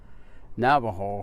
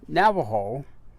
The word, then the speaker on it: Navajo: special information and so the name actually Navajo is a name in its original form when it was given to us by the another it was something that sounded like Nabi Hall and that was the